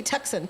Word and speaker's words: Tucson: It's T-U-C, Tucson.